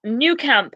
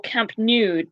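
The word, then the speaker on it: Nou Camp: a new camp or camp nude there's various ways of saying it but it's new camp or camp new it doesn't matter how you spell it as long as it sounds like a new camp yeah great so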